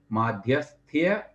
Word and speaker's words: माध्यस्थ्य: माध्यस्थ्य भावम, माध्यस्थ्य, देखो यहाँ थोड़ा सा उच्चारण करते समय ध्यान रखिएगा, यकार भी है ना।